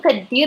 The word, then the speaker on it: كدير: And also t and the they are similar, so just pronounce the d and emphasize it, and it will sound like Moroccan. شنو كدير اليوم؟ كدير كدير. I don't pronounce the t, just the d.